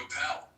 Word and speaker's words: Appel: I did intend with the ish ending to give a little nod to the ish movement started by Steve Appel, which rhymes with Steve Carell, and both funny intellectual